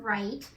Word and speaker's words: right: And a fabulous firstie told me yesterday that when you hear right, you hear R-I-T. And that firstie was 100% correct. All you hear is R-I-T, but to make it look right, you have to have I-G-H in the middle.